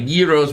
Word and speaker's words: gyro: Yes, gyro, the G is silent.